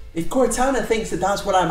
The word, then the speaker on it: Cortana: up anyway that was Cortana I realized I pronounced it wrong at the start of the video Cortana um if you want